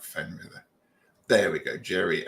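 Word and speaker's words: Geri: Gary, I would pronounce that, and Freki are Odin's wolves.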